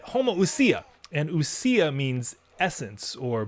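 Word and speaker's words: homoousia: means same and usia homo usia oh that's it homo usia and usia means essence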